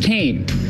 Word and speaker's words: Kean: And by the way, our university is named after the Kean family, and it's pronounced Kean, not Kean, but Kean.